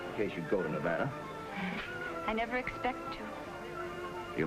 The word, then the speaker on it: Nevada: You dance very well for a man from Nevada. By the way, that's pronounced Nevada. I notice you give it the broad ah. I prefer it to a dreadful flat ah. Only the dreadful flat ah is correct.